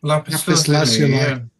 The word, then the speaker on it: lapis lazuli: is it a stone dial, or is it lapis lazuli? Right? Is how you pronounce that? I forgot. Yeah, lapis lazuli.